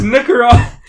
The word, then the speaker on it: Nicaragua: There's no hard R in Nicaragua. It's Nicaragua.